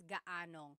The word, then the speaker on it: gaanong: And then just a pronunciation tip, if you happen to see gaano ang something, it's usually put together and it's gaanong. So gaanong katangkad ang anak mo?